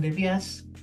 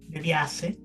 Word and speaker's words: De Biase: conozcan al señor de Bias. ¿Lo dije bien? De Viase, De Biase. así de, mismo como se escribe.